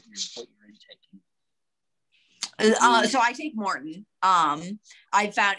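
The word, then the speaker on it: Maurten: And so it's super neutral, super easy on my stomach, but it's spelled M-A-U-T-R-M-A-U-R-T-E-N, Morton.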